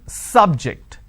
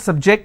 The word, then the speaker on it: subject: so i say bio biology is an interesting subject i'm i'm stressing on the first syllable okay now i'm using another example please don't subject the students to any tests so here my stress has moved to the second syllable for example when i